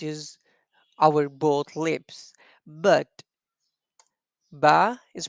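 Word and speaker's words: ب: is a little difference when we say ba so we use the wet part of our both lips like this repeat after me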